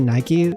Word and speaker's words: NIKKE: one to try also is it really Nik I always pronounce it Nike yeah so I think it's supposed to be Nike for like the actual goddess of Victory they named it Nik to avoid copyright issues with Nike the shoe company what's